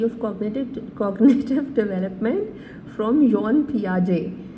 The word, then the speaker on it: Piaget: cognitive cognitive development from योन पियाजे अच्छा इसे gene या जान नहीं कहना है दिस इ न पियाजे और टी भी साइलेंट होगा फर्स्ट ऑफ ल हम